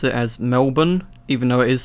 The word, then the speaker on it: Melbourne: of how great it is to be in Melborn Victoria uh over here in Australia we pronounce it as Melbourne even though it is spelled like how you